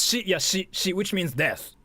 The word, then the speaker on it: shi: And for similar reasons in Japanese, the number four can be pronounced she and the word for death is also she.